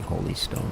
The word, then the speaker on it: Holy Stone: a hly stone or holy Stone depending how you want to pronounce it I guess it is actually holy Stone when he considers h o l y not LL y so uh yeah that